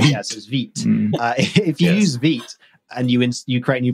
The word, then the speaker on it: Vite: the the build tool is it veto Vite feet I think meat I think it's me it's the French pronunciation right yes if you use Veet and you create a